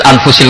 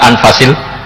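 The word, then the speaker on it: أنفس: Di sini ditulis anfusil kutub, kalau saya baca anfasil kutub karena maknanya kitab terbaik. Kalau kitab terbaik bacanya bukan anfus tapi apa? Anfas.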